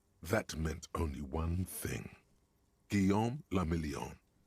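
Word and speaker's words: Guillaume Le Mignon: Guillaume le Million. If it doesn't rhyme, you're not pronouncing it right.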